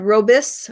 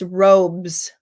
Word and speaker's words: robes: So words like robes, it's not robus, it's robes, blades, cakes, tails, homes, canes, pipes, critiques, mares, states, colleagues, loves, safes, clothes. So robe, one syllable, robes, stays the same, stays one syllable.